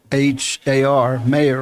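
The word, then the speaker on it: Mahar: out of sydney johnny mayhar m-a-h-a-r mayor or leaving pronunciation he was on the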